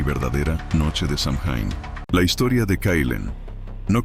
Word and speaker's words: Samhain: Samhain, pronunciado Samhain, el final del verano, la muerte de la luz.